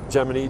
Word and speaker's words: Gemini: Well, I'm right, of course, because I took Latin, and in Latin, you pronounce Gemini, Gemini, just like you pronounce, well, even in English, you pronounce bikini, bikini. You don't say bikini.